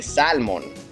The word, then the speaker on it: salmon: say in Spanish say salmon you know because there's an alien there but in English you don't say the L and I'm gonna go